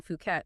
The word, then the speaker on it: Phuket: Maybe a beautiful villa overlooking the Andaman Sea in Phuket. And just so everyone knows, that's ph but uh we'll be pronouncing it the local way, Phuket.